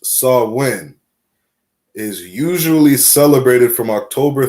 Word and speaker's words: Samhain: In modern times, Samhain, a Gaelic word pronounced Samhain, is usually celebrated from October 31st to November